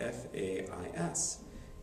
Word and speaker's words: Fais: So in the printed French, you will see Fais is spelled F-A-I-S. That is pronounced Fais. You do not pronounce the S.